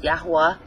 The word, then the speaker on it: Yahuwah: an ad about and i put yahweh's name in there well it's pronounced yahuwah but i'll put his